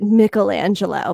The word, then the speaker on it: Michelangelo: actually and i think if you have an mfa in dramaturgy perhaps you pronounce it michelangelo but i am from long island so i say michelangelo you know michelangelo he